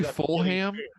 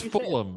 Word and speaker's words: Fulham: you bring him up you say fullham did you say it's Fulham it's full of them not fullham whatever that's how you spell